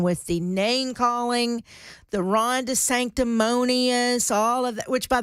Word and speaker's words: DeSanctimonious: Ron DeSanctimonious. Did I say it right? Yeah? Yep, okay. Ron DeSanctimonious.